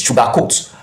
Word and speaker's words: sugarcoat: Remember, it stresses the second word since it's a verb, and also for adjective, the same stresses the second word. So we have the stress in coat.